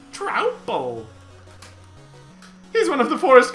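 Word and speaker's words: Troupple: You've never heard of the Trouple King, half trout and half apple, pronounced like mouthful, Trouple.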